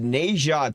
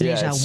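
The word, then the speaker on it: Ne Zha: But Neja 2. Neja? What's Neja 1? It's spelled N-E space Z-H-A.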